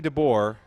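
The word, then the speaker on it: Dabbour: DeBoer, not spelled like yours truly, DeBoer. It's spelled D-A-B-B-O-U-R, which frankly I've probably ran into a couple times. It's one of those names, you know, stick together with the pronunciation.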